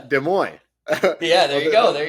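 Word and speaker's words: Des Moines: for some crazy reason I bet you don't know how to say it well this is uh de Moy yeah there you go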